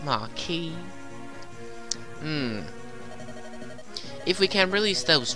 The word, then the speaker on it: Marquess: head through the passage to the throne room and rescue the Marquess. Once that's done, can you drive the enemy from the castle? I already told you it's pronounced Marquis.